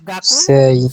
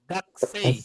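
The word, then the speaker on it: 学生: গাকু গাকু সেই সেই, কিন্তু হয়ে যাবে সেই কি? গাকসেই, কি হয়ে যাবে? গাকসেই। সেই তাহলে যে কুয়ের উটা হচ্ছে ডিভয়েস হয়ে গেছে, ওই যে আমরা পড়লাম যে ডিভয়েস হয়ে গেল, এখানে ডিভয়েসিং রুলস অ্যাপ্লাই হয়েছে।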